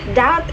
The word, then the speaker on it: doubt: When we say uh doubt, doubt is like uh there is a silent letter or the silent uh that we have to erase in that word.